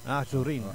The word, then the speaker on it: Azurin: Ay pronounce mong maigi. O azo. Ah azo hindi aso. Azurin.